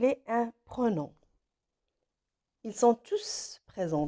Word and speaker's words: tous: un pronom ils sont tous présents dans ce cas là le s se prononcent quand l es de tous se prononcent ils se prononcent qu'on joue c'est un pro non alors pour valider la